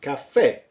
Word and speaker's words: caffè: So the English cafe, it's basically with two F's and with an accent, and it's pronounced caffè.